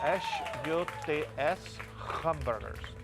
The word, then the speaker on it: Huts Hamburgers: That's spelled H-U-T-S Hamburgers.